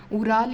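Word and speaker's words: Ural: River news में है, वो है उराल या उरल, जो भी आप अपने अकॉर्डिंग प्रोनाउंस करें।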